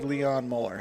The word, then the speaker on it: Mueller: What's interesting, is that how you would pronounce that? Mueller? I would say Leon Mueller.